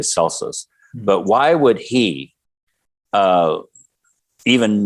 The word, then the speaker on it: Celsus: Why would Celsus, because the way you pronounce his name in the Latin would be Celsus, but in modern English we say Celsus.